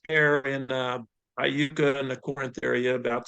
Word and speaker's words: Corinth: And there's a couple of terms I would like for our future viewers on YouTube to know correct pronunciation is Corinth, Mississippi, and Iuka, Mississippi.